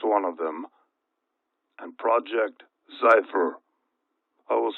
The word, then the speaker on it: Zyphr: project pogo is one of them and project cypher i will spell that one z-y-p-h-r project pogo and project xifer are the two projects that the classified documents